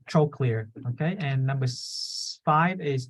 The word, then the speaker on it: trochlear: the eye and then number four is trochlear okay remember troll clear okay and number five